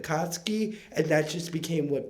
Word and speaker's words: Katsuki: to say his name i said katsuku instead of katsuki and that just became